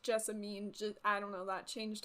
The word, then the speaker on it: Jessamine: one of those moments sure it's Jessamine Jessamine being pronounced Jessamine I don't know that